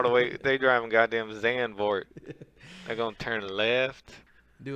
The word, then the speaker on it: Zandvoort: Zandvoort. You pronounce the D as a T and the V as an F. So it's Zandvoort. You know what?